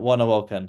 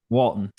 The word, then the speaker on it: Walton: right Javon W Walton yeah Javon Javon W walon that's how you say it Walton Walton yeah and you also got manano main